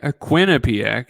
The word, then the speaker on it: Quinnipiac: yeah I mean kenip Quinnipiac excuse me I'd say it like you know Quebec no one says qubec that I've met anyways but um Quinn